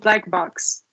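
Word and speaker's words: Blackbox: she's a project manager do you pronounce it black b or no it's it's called black box black box okay because the the logo is just blck um and this is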